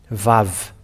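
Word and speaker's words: וו: V and it's V the way to call it it is V VAV so this V is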